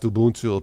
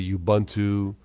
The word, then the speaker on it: Ubuntu: care anymore I like it's pronounced to boon tool people say Ubuntu it's all good you know